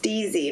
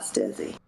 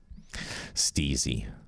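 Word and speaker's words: STIIIZY: know that it's pronounced stezy not stizzy yeah I've been saying stizzy forever so w flowers your friends grow mhm steezy steezy that's cute steezy like sleazy well I'll tell you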